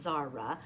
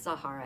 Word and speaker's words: Sahara: Is it Zara? I think it's pronounced Zara. I don't think it's Zahara. I think it's Zara.